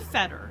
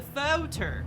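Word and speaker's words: foetor: is really good foreign you pronouncing that o though because it's different than is that because it's not it's not the Fetter it's the photo there's an o in there see the f-o-e-t-o-r okay y'all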